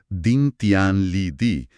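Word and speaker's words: 顶天立地: La primera frase se pronuncia Din Tian Li Di, que significa que la cabeza toca el cielo y los pies se enraizan en la tierra.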